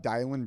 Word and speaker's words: Dylan: my name is uh DIY a lot of people call me I think my name is Dylan it's spelled you know d y l but it's pronounced di um my last name